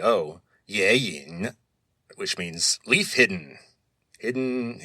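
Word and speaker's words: 隱: So the next character in Chinese is yin. You would spell that in pinyin, Y-I-N, and it's the third tone, which is the low tone, so yin.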